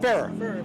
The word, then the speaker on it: Ferrer: Ferrer.